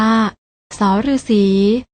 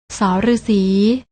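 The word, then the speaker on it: ษ ฤๅษี: ที่ 2 อ่าน ว่า ส ฤาษี และ พยัญชนะ ตัว ที่ 3 อ่าน ว่า ส เสือ เห็น มั้ย คะ ว่า ทั้ง 3 ตัว นี้ อ่าน ออก เสียง ส เหมือน กัน น้อง ๆ ลอง อ่าน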